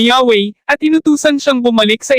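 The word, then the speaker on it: Yahweh: ang kaniyang pangalan na yhwh malamang ay binibigkas na yahwe at inutusan siyang bumalik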